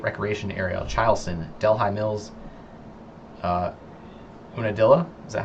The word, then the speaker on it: Unadilla: Comments are saying it's Unadilla.